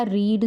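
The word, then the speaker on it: read: फ़र्क सिर्फ इतना है कि जब फर्स्ट फॉर्म होती है तो उसको रीड कहते हैं, आगे रेड रेड बोलते हैं, स्पेलिंग नहीं चेंज करते हैं।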